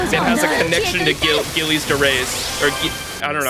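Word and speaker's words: Gilles de Rais: The G is pronounced like a J. Gilles de Reyes. Gilles de Reyes.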